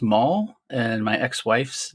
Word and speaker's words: Mal: And the fact that DiCaprio's late wife in the movie is named Mal, but pronounced Maul, and my ex-wife's name is Molly.